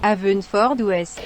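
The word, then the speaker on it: Haverfordwest: christian bale il est né en 1974 à avesnes fort d'ouest alors je le prononce peut-être très mal donc on va laisser google le prononcer maintenant à feu une ford wes merci google alors christian bale en plus de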